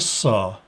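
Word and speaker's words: Sah: We find the eye over a throne with a god figure, and that represents Osiris, or Sa, that's how that's pronounced.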